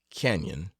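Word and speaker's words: cañon: and up King's Canon please pronounce Canyon after the manner of the natives there are ranches or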